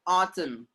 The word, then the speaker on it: autumn: Let's have autumn. Autumn. Autumn. MN are coming together. N will be silent.